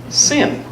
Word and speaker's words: CIN: the Canadian Interfaith Network or cin with a soft C sin that pissed some people